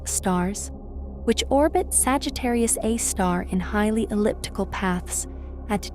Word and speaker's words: Sagittarius A*: The supermassive black hole at the center of the Milky Way is called Sagittarius A star, pronounced Sagittarius A star.